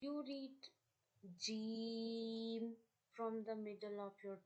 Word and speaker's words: ج: and you read Jeem, Jeem, the voice of G, Jeem.